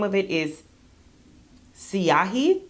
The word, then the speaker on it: Siahi: I think the name of it is Siahi. It's spelled S-I-A-H-I.